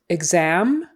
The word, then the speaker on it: exam: KS sound facts um exit exam examine those are all gz EGS EGS exit exit criteria next word